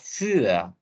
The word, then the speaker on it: für: Ya, umlaut bacanya ü. Makanya für. Aku bilangnya für.